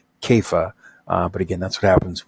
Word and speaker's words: Kepha: It really should be probably rendered Kepha, Kepha, but again, that's what happens when you transliterate.